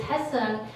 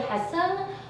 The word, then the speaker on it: Hyeseung: I've been sort of transitioning people to the Korean pronunciation of Hyeseung, but like all my college friends still call me Hyeseung, because that was the way it was easy for people to pronounce it, because like my vowel sounds, they don't exist in American English.